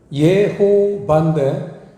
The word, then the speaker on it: 여호와: 그래서 여호와라는 단어는 성경사전을 보면 예호바인데, 우리 성경을 기록하신 어르신들이 좀 번역을 부드러운 발음으로 해서 여호와 이렇게 바꿨어요. 전 그게 좋다고 봅니다. 예호바는 좀 딱딱해요.